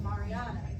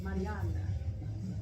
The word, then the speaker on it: Mariana: I appreciate you uh I just recently learned that all my life I've been saying my name incorrectly I've been calling myself Mariana and some people call me Marana my name is Mariana and that's the way we roll it so if you love